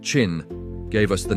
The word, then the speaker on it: Qin: The name of his dynasty, Chin, pronounced Chin, gave us the name China.